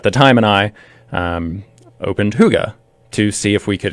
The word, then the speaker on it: Hygge: Yeah, so it's a Danish word. Hygge is pronounced Huga. I have to admit, I called it Hygge first, and then I'm like, Huga.